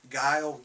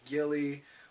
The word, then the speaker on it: Guile: Like, we would call Guile, Gilly, we'd call Ryu, Rue, Delzim, I don't even